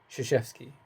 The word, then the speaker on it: Krzyzewski: You try and pronounce this name. No? Okay. Krzyzewski.